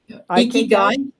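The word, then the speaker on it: 生き甲斐: And you actually went, and I'm going to pronounce this probably incorrectly, but it's called Ikigai? Ikigai.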